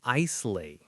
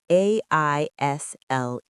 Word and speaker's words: aisle: What is an islay? Ah, this is a trap. It is spelled Aisle, but the S is silent.